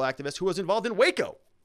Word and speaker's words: Waco: who was involved in waco let's not pronounce wacko okay for years chitman served